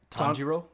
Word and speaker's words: Tanjiro: not i'll uh because how do you say his name tanjiro tanjiro tanjiro so we just take